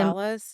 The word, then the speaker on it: mandala: You say Mandalas? mandala. I don't know. If we said Mandala. that wrong, please don't be mad at We're us. so sorry. It's spelled M-A and it's sounds M-O.